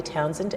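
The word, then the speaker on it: Townshend: Okay, you can follow me, Townsend, Townsend, TOWNSH. There's a silent H in there that people always forget.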